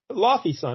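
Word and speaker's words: Laufeyson: So Loki Loffason, is that how you say it? Laffy's son, I think. Laufey's son. Oh yeah, they always just say son at the end. Yeah, that's right. Laufey's son.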